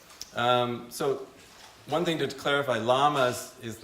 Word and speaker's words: LAMAS: But oftentimes people pronounce it with a Spanish accent, and that doesn't bother me one bit.